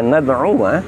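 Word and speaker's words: نَدْعُوَا: Perhatikan pada lafaz lan nad'uwa. Pada lafaz khususnya pada nad'uwa, di situ kita dapati wawu berharokat fathah, lalu setelahnya terdapat alif. Namun kita membacanya pendek saja. Apa sebab? Karena alif yang demikian bukanlah alif mad atau alif madiyah, alif yang dibaca panjang.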